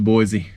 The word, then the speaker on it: Boise: All right, guys, we made it to Boise.